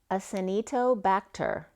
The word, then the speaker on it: Acinetobacter: So another header then came up was, and I even looked it up to make sure I pronounced it right today, but it's Acinetobacter, and then Venetianus is a bacteria.